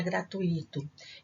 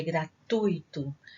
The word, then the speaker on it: gratuito: veem muita gente chamar gratuito. Gente, a pronúncia correta não é gratuito, é gratuito. Gratuito, a sílaba tônica é a penúltima, ela é uma palavra paroxítona.